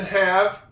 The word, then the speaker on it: have: I got a couple silent E's. One in judge, one in have. There's other vowels in those words before the E that's at the end. Therefore, the E at the end of the word is silent.